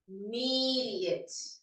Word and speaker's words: immediate: The stress is in the middle syllable. Immediate.